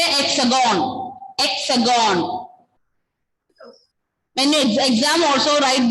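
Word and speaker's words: Hexagone: Hexagon. The nickname of France is lexagonal. We. You can just say hexagon. Hexagon. When you exam also write this way, this spelling. Hexagon. H will be silent.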